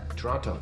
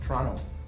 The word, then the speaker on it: Toronto: Toronto. Toronto. Canadians don't pronounce the T.